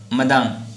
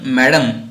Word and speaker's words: Madame: अँड मदाम आता या ठिकाणी बघा MADAME, मदाम हे स्पेलिंग आहे. ॲक्च्युली फ्रेंचमध्ये आपण मॅडम असा उच्चार न करता मादाम असा उच्चार केला जातो, पण आपण या ठिकाणी मॅडम म्हणूया.